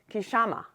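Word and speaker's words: क्षमा: In the yoga world, they may pronounce this as kshama, forgiveness. I share this with you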